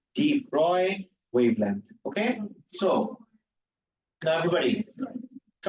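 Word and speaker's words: Broglie: also behave like waves it's not brly it's Deep Roy actual pronunciation is Deep Roy wavelength okay so now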